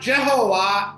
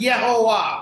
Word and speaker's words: Jehovah: Actually, it is not Jehovah, it is Yehovah.